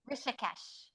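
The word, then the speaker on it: Rishikesh: Rishesh.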